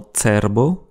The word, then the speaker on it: cerbo: Attention à la prononciation de C et J, respectivement TS, comme dans TSERBO, cerveau, et Y, comme dans YUJI, jugé.